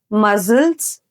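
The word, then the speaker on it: muscles: ಆದ್ರೆ ಸಿ ಇದ್ರೂ ಕೂಡ ಅದು ಸೈಲೆಂಟ್ ಆಗಿರೋದ್ರಿಂದ ನಾವ್ ಅದನ್ನ ಪ್ರೊನೌನ್ಸ್ ಮಾಡ್ತಾ ಇಲ್ಲ. ಸೊ ಇದನ್ನ ಕರೆಕ್ಟ್ ಆಗಿ ಹೆಂಗ್ ಪ್ರೊನೌನ್ಸ್ ಮಾಡ್ತಾರೆ ನೋಡಿ. Scene, scissors, ಮಸಲ್ಸ್, science.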